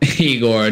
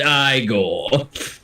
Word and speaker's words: Igor: And when he calls him Igor, no, it's pronounced Igor.